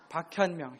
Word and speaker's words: 박현명: 박헌멍이 아니고 박현명. 박현명.